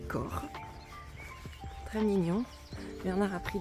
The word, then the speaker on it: Corne: Nous venons de quitter le petit village de Corre, qui s'écrit Corne, C-O-R-N, mais qui se dit Corre.